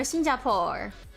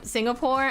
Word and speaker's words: Singapore: My parents, they they call Singapore Shinjapore. Shinjapore. That's not even how you say it in Chinese. They just That's how they say it when they say it in they say with their accent.